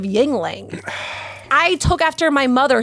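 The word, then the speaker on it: Yuengling: My mom says ying ying instead of yingling.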